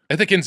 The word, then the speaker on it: Ithacans: Ithacans.